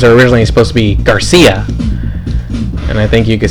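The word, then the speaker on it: García: by sound, the Cia, they went with the S sound to try and sound like, you know, the correct Mexican or Spanish pronunciation of the word Garcia.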